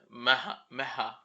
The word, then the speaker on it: Maha: Sonic the Hedgehog, Kiramai Green, Maha. That's how you say it.